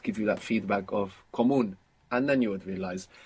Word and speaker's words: común: Is it comuno? Comono. Común. Ah, So there's no way to know that. comuno or común? Común. Común. Común with the accent on the end.